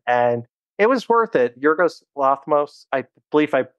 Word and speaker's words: Yorgos Lanthimos: Yorgos Lanthimos, I believe I pronounced his name correctly.